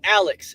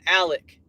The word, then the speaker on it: Alex: spelled it Alec his name is Alex and I hate that they call him Alec that it it just cringes me out Alec if if I'm like dude if your name is Alec then spell it with a C or a k or something and they do the